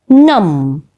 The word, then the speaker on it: numb: c is not pronounced number three num num in the word num ba is not pronounced it is not as numb it is num okay next word is